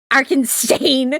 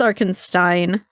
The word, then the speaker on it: Arinstein: That's actually I said stain. That's Stein. Arin stain. It's a stain on the existence. No, it's Arinstein. I'm going to be staying on the fay.